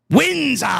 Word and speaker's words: Windsor: Windsor. You got to say it right. Oh, Windsor.